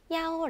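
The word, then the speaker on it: 幺: 때 대답 표현으로 101호는 야오 링 야오 하라고 하고요 33호는 산링 산 하라고 합니다 이때 주의하실 부분은 중국어로 이렇게 번호를 읽을 때는 대부분 숫자 하나 하나씩 읽으면 숫자 1은 이보다는 야라는 발음을 많이 사용합니다 방을 나태는 빵제 몇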